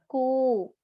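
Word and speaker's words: こ: It is pronounced as ko.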